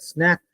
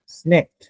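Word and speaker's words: snaked: ক্যানেল ক্যানেল বানিয়েছিল দ্যাট স্ন্যাক্ট এই স্ন্যাক্ট কথাটার অর্থ কিরে একচুয়ালি স্নেক হ্যাঁ স্নেকড নট স্ন্যাক উচ্চারণটা ওই স্নেকের মত পেঁচিয়ে পেঁচিয়ে বুঝলি যেটাকে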